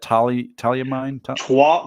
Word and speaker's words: Tuolumne: Tuolumne Tuolumne County.